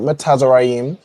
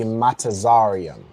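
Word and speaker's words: מצרים: Not matazarim, but close. You have the you have the, you know, the foundation of of how you'd pronounce matazaram. Okay. So it would be Matazarium.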